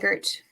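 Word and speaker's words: Sweigart: I always say his last name wrong. How do you say his last name? Swigert.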